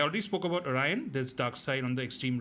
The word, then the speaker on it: Darkseid: His name is Darkseid. He's the evil, tyrannical ruler of Apocalypse, as I said.